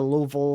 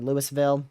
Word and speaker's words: Louisville: You can see we've had a lot of reports here, especially in the Louisville or Louisville. Depends on where you're from and how you say it out there in Illinois.